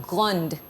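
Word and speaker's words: grands: On ajoute S, mais ça se prononce quand même grand. It doesn't change the pronunciation.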